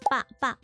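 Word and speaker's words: 八八: 88 we pronounce as pa pa, which kinda sounds like fa fa.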